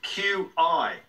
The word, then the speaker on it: Qi: as well but with Qi it's a lot of people confuse it with Tai Chi now even though it's pronounced the same way it's a different spelling and has a different